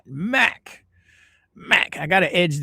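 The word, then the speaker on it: Mack: Or Mac or Mark, I'd say. Oh, it's Mac. M A C K. Mac. All right. Mac.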